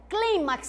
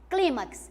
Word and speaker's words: clímax: nós temos o clímax Olha a pronúncia clímax sílaba tônica aqui ó clímax O que é o